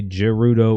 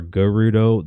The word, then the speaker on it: Gerudo: To your point, people who say Gerudo or Gerudo, that's a just pronunciation. Yeah. You could say it either way.